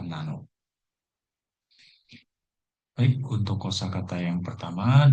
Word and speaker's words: 七: ini dibaca siji. Kemudian ada cara baca kunyomi atau secara jepangnya yaitu bisa dibaca nana ataupun bisa dibaca nano.